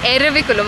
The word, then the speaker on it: Eravikulam: Ervikulam. Okay, sorry for the wrong pronunciation.